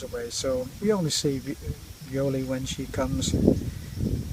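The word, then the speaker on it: Violly: Her name is Violi, V-I-O-L-L-Y, and everybody calls her Bewley, because in the language of the Philippines, V is a difficult Yeah. it's a difficult one to pronounce, because there are not many words which start with the letter V.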